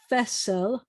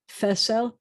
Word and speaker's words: fesel: And so this word is fesel, 2 S, the accent on the first one, fesel.